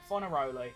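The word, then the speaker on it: Fornaroli: actually know them but his name's feri that's how you pronounce it that's what Alex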